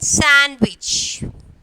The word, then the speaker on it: sandwich: So here D, and then sandwich. So when we are pronouncing the word, the D is silent.